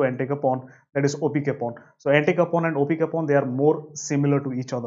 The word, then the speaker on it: opicapone: and so is this wrong so like anti-coupon opi capone is also a comp inhibitor and this dog